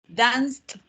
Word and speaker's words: danced: Because remember the E is silent.